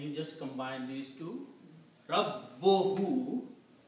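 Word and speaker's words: رَبُّهُ: Rabbohu, you have to emphasize of pronouncing Ba twice.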